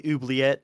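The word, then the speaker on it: oubliette: but that's at the oobleyette and it's a it's french word but it's spelled o-u-b-l-i-e-t-t-e i gotcha well hey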